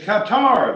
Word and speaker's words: Qatar: he needs better advisors i've heard cutter before it's qatar they say qatar all